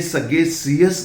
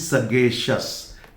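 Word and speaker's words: sagacious: सबसे पहले जब कभी भी C के बाद या T के बाद, X के बाद या G के बाद IOUS दिया हुआ हो तो इस I का प्रोनाउंसिएशन नहीं होता। जैसे ये सगेशियस नहीं है, दिस इज सगेशस।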